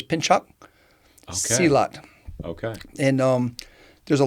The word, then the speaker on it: pencak: it's with C is a CH so it's pinch cot okay and um there's a lot of I've